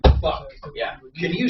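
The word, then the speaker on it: Phuk: Yeah, like P-H-U-K, fuck, like a legitimate last name, pronounced fuck.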